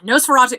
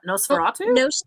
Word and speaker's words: Nosferatu: now or something that you've seen recently ah nosferatu i have not watched the original nosferatu i